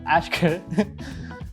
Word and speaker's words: Aishkh: Yeah the the K from the epiglotus. Yes. Yes. So Ashkar what is there for us for the next 5 years?